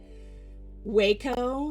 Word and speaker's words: Wacom: Waco, yeah, it's a Japanese brand apparently. And when I learned that's how you're supposed to pronounce it, my brain short-circuited and I hate it.